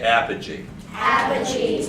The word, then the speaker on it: apogee: is um oh my god i worked on pronouncing it uh apogee and this is perigee everybody say apogee have a cheese say energy all right now